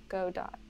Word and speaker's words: Godot: out yet yeah yeah go dot godot two because of waiting for good out right okay it is spelled exactly the same it is samuel beckett oh it goes i